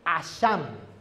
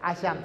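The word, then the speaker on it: אָשָׁם: La palabra en hebreo es esta que se lee Asham. ¿Sí? Ahí está, Asham. Se escribe así y se pronuncia así, Asham.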